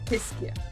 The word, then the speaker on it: Tyskie: How do you pronounce this one? It's called Tyskie.